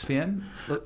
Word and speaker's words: Thespian: Thespian. Can you tell me a little bit about it? Well, so Thespian is pronounced THSPIAN without the E.